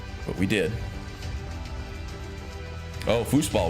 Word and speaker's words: Fußball: Oh, Fußball with the German B that is pronounced as an S.